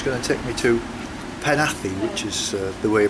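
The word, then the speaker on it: Penally: 520 which is going to take me to panathi Which is the way you pronounce it not pen alley panathi apparently uh back to the campsite it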